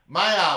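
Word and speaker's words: Maiava: So Mavia, am I pronouncing that correctly? Mayava.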